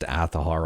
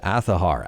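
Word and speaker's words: Azahar: 3DS emulation with aahar now this one is pronounced aahar although a lot of people say it should be pronounced aahar or aahar it is pronounced aahar as per the developers of this emulator anyways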